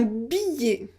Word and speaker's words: billet: d'accord ensuite vous avez toutes les fins de mots avec eux tu es comme un gilet 1 billets un billet yé yé yé un billet ensuite vous avez tous